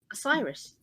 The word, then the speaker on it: Osiris: number six the messiah which is based on osiris oh is that how you pronounce it osiris yes okay good the male face of this